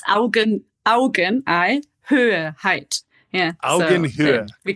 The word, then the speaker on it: Augenhöhe: That idea of Augenhöhe, did I say it right?